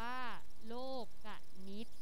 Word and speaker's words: โลกนิติ: ของ โครง สุภาษิต โดย คำ นี้ เนี่ย อ่าน ว่า โลก กนิต นะ คำ นี้ เนี่ย มี